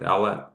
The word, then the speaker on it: Owlett: I have my guest today, Andrew Owlette. Um, am I pronouncing that correct? Owlette.